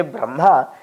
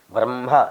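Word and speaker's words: ब्रह्म: Okay, that means when you say Brahma, it is written actually Ha and Ma. But you are pronouncing as if it is written Ma and Ha. As if. Brahma. You say loudly. Say, give some gap in between Bra and Ma.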